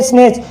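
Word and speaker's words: snatch: ऐसे हो गया स्नेच, स्नेच का मतलब जानते हो खींचना, इसमें भी क्या है, टी के बाद में CH आ रहा है।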